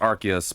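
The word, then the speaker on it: Arceus: I know it's pronounced Archus, but I like saying Arus. It sounds cooler.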